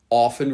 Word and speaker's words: often: Although I often say often. It's not wrong to use a T, but it's more common without it.